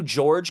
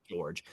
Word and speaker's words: Jorge: It is spelled Seu, and then his last name is Jorge, like Jorge, but I Okay. believe George. Um, so Seu George doing David Bowie covers